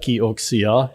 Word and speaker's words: KIOXIA: Did you hear how I pronounce that? KIOXIA.